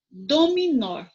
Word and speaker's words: dominó: usar olha só vamos começar com a palavra dominó o que é a sílaba mais forte aqui o nó não é